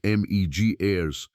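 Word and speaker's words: Betty Meggers: The most influential voice behind this idea was an American archaeologist named Betty Magers, pronounced Megirys, who spent decades arguing that the tropical rainforest was a place where complex civilization was, in her words, essentially impossible.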